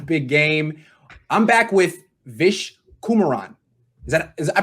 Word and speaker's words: Vish Kumaran: I'm back with Vish Kumaran. I pronounced it right?